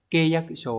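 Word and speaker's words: 契約書: Ví dụ số 1 này đọc là keiyakusho ấy, Hán tự sẽ là chữ khế.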